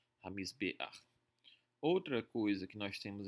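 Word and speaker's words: הַמִּזְבֵּחַ: Quando a última letra for um ayin ou um reit e o patar embaixo dela estiver um pouco à direita aqui, nós temos um patar furtivo, ele vai ser pronunciado antes da consoante.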